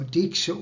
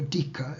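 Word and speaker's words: dīkṣā: but is not descriptive so deeksha or dica it can also be pronounced like that teach is what is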